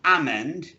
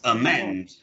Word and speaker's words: amend: what's the first word amend okay now be very careful this is the schwa at the beginning so it's not almond it's a man a man a man amen a